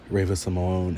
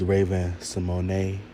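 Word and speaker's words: Raven-Symoné: always think about um Ravena Simone and Agent Balone. And even though Raven has came out and said that we are have been pronouncing her name wrong is Raven Simone honey look at Raven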